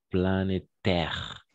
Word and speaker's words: planétaire: On dans le monde qui semble, on ne prononce jamais, qui semble confirmer l'existence d'un réchauffement climatique planétaire. Planétaire, d'accord? Comme E, planétaire, d'accord? Planétaire. Exact.